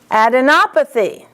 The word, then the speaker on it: adenopathy: Adenopathy. Adenopathy. Op is the accent.